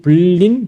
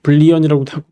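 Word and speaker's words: Boolean: 익스트루드 로프트 리브 블랜드 블린 블리언이라고 발음하기도 하는데 하고 이과가 있어요 이게 있고요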